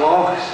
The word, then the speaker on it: loch: The blue is for the rivers and the lochs. If I catch anyone saying lake, I'm going to kick your ass. A loch. Say it like you've got hair stuck in your throat.